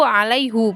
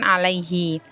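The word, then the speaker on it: عَلَيْهُ: ayat 10 kalimatnya alaihullah, hati-hati dibaca alaihu, hati-hati dibacanya itu alaihu bukan alaihi.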